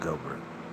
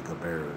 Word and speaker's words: Gilbert: It's spelled Gilbert, but doctors say Gilbert is like it's fancy or something.